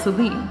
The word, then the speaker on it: Celine: My name is Celine. And I would say Celine, like Celine Dion.